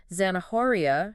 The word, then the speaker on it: zanahoria: area and then there's zanahoria for carrot where the H is silent right exactly it's those